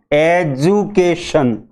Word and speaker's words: education: हम इस शब्द को बोलेंगे एजुकेशन। एजुकेशन, यहाँ ड को डी को ड नहीं बोलेंगे, डी को ज बोलेंगे।